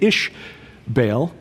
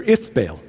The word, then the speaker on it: Ithbaal: Jezebel's father was a man named Ishbaal, or Ithbaal. Same thing, just different pronunciation. The Phoenicians said Ith, where the Israelites said Ish.